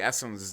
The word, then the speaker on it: Essend: And if you've ever wondered how to say Essend's name, that is how it's pronounced, Essend.